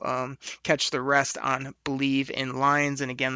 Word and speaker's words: Bleav: catch the rest on believe in lions and again that's spelled b l e a v so should be a